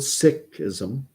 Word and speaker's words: Sikhism: not with Islam not with Hinduism not with Sikhism which is the proper way to pronounce Sikhism if for members of the Sikh